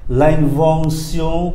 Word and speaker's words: invention: À, chúng ta qua cái âm nữa là âm sion, viết bằng T I O N mà đọc là sion, nó khác tiếng Anh nhé. L'invention, l'invention, ba âm mũi này, l'invention, phát minh.